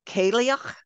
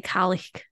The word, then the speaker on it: Cailleach: So it is, I think it's probably Cailleach, Probably. I was gonna say Kalik. Cailleach, maybe. And All bad.